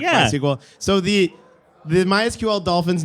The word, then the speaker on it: MySQL: Dolphin is named sakila my my SQL which is the way you pronounce it was named after the inventor's daughter my or Planet scale attempted to Fork my sequel after licensing disagreements in